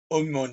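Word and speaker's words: Aumonier: so what of Eric Oman yay I pronounce that in sort of a French accent because he was a Hyuga know these were French Protestants who fled pat france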